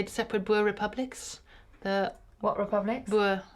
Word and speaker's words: Boer: Boer is, in England you say Boer. We say, in Afrikaans it's pronounced Boer. In England you tend to say Boer or Boer. It's a very different pronunciation, but it means farmer.